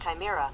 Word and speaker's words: chimera: __ ] pronounce can you repeat please that's pronounced chimera chimera chimera pronounce fauna that's pronounced fauna can